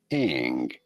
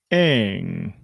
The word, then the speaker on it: Ng: In English, it is usually pronounced as Ang. Ang. I know, it's Ang.